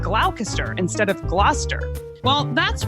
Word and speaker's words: Gloucester: Like originally I said Gloucester instead of Gloucester. Well, that's why I downloaded Audio Shakespeare Pronunciation app.